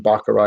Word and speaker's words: Baccarat: The T is silent in Baccarat, isn't it?